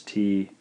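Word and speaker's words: つ: T and U combination you would expect this to be romanized as T and U however there's no such sound in Japanese so what are we looking at then well this is actually romanized as TSU and is pronounced t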